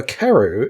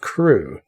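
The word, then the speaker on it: Crewe: difference in the name madame pascal pronounced it as if it were keru instead of crew but that might be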